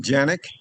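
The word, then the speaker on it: Canik: What I got here is my Canic, or you can pronounce it Janik, TP9 Elite SC, subcompact, that means.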